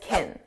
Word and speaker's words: can: It's pronounced as kin kin. It's an unstressed sound.